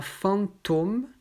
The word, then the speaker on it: fantôme: il ici on à fantômes donc avec un os fermé mais moi je prononce personnellement fantôme avec un os ouvert donc au a donc